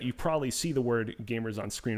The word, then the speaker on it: GVMERS: Pronounced gamers, by the way, not GVMERS or GVMERS.